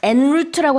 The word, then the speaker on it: en route: 그래서 이걸 en route라고 하지 않고요. en route라고 불어식 발음을 조금 살려서 얘기합니다.